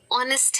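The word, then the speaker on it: honest: हम हा बोलते हैं लेकिन कुछ ऐसे शब्द भी है इंग्लिश में जैसे की अवर है और है ऑनेस्ट है ओनर है उन सब में हा को साइलेंट रखते हैं अगर आपको तिलसा देना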